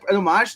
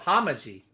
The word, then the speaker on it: homage: is uh like a James Bond it's a homage the 80s almost it feels like a little bit too you keep mispronouncing that that word it's called homaji so this is a what not Papa Shang